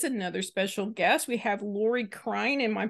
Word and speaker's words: Lori Krein: have with us another special guest we have Lori Klein in my pronouncing that correctly yes you are that's correct